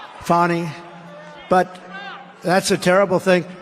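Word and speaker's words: Fani: it's it's actually pronounced fonnie it's f a n i but you pronounce it fny a little French accent there funny but that's a terrible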